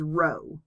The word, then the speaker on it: rho: not a p okay this is actually a greek letter called rho and it's spelled r o h so notice that this is an r and this starts with an r when you say it but it's rho okay so it looks